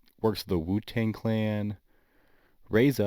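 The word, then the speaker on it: RZA: Reza, I believe it's pronounced, is considered the pioneer of such style, and it was later carried by Just Blazed and Ye.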